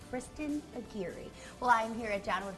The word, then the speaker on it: Kirsten: don't know Kirsten Kristen is live in Quincy this morning yeah Kristen what are you up to good morning Chad did you forget how to say my name it's Kristin well I'm here at